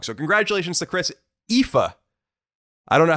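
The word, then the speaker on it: Aoife: is in fact pronounced ifa oh my god ifa so e-e-f-a is how you pronounce it it's spelled a-o-i-f-e if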